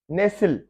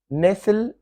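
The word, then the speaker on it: nestle: नेसिल, नेसिल, इसमें T silent है।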